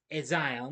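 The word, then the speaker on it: A'zion: The film stars Ella Rubin, Michael Samino, Odessa, Aion. I think I'm pronouncing it right. Ezion, excuse me.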